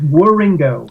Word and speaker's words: Wieringo: um Telos tribute with Mike Rio did I pronounce that right where uh no but it's War Ringo wieringo Ringo Ringo okay um again I I